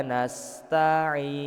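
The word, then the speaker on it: نستعين: Kayak tadi Pak, setiap mim dan nun yang di akhir ayat itu kita enggak boleh langsung berhenti bacanya. Jadi dibunyikan dulu. Iyyaka na'budu wa iyyaka nasta'in.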